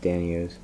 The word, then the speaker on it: danio: zebra dina or daniel i always call them dinos they called richard's pronounced danios cherry barb i got